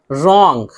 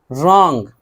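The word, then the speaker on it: wrong: तो ज़्यादातर तो यही है कि शुरू में जो है डब्ल्यू और आर हो तो डब्ल्यू को नहीं पढ़ते हैं।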